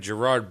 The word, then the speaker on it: Gerard: He's just trying to find his friend Gerard Butler. Yeah. Now, I just skipped right over... Are you Gerard Butler? Jabard.